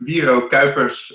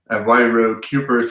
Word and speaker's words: Wiro Kuipers: Just for the pronunciation, Wiro Kuipers is my name when you pronounce it in Dutch. Wiro Kuipers is something it sounds like when you pronounce it in English.